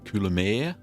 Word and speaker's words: Coulommiers: are in all their Glory there's our English kulir that's how you pronounce it correctly I don't think I got